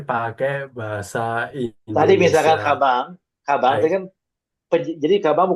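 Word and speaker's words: かばん: Minasang korewa kabang des kabang des kabang des aodes ja jadi bukan kaban ya minasa tapi kabang karena n di belakang itu bacanya nge kabang eh segiwa gore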